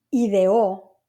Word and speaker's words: ideó: Y esta palabra ideó, ¿verdad? Con acento en la O, quiere decir que él planeó, él pensó, ¿ok?